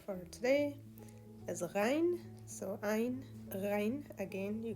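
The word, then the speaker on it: غ: Now, the way you pronounce it, you don't really have an equivalent to this in English language, which makes it challenging. Rein. But the way to pronounce it is if you are gargling. So try gargling, every night for a week, and then you'll be able to pronounce this perfectly.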